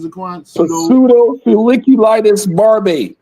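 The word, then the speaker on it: pseudofolliculitis barbae: Pseudo feliculitis barb. Yeah. Pseudo not pseudo pseudo. The p is kind of kind of silent.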